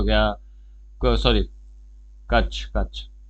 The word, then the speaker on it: कच्छ: Gulf of कच्छ हो गया, sorry, कच्छ कच्छ, हाँ रॉन्ग प्रोनाउंसिएशन रही थी।